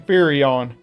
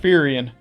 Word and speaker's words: Firion: But I'm going to assume the small amount of people who did care enough to pronounce his name were like me and called him Firion, since that kinda looks like how his name should be said.